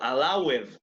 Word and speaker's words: allowed: And notice the pronunciation. Noten que no lo pronuncio allowed, ¿no es cierto? Recordarán eso. Generalmente la ed suena como D o como T, ¿no? Entonces, en este caso, como lo que tengo antes es un sonido vocal, bueno, ustedes me dirán,